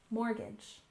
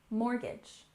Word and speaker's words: mortgage: week we have mortgage even though there's a t in this word you won't often hear native speakers pronounce the T and we stress the first syllable mortgage mortgage and this is the